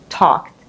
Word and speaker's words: talked: but this one is talked for past and past participle. And the pronunciation, don't forget. So you have to say t, not d, right? Talked, because k is unvoiced.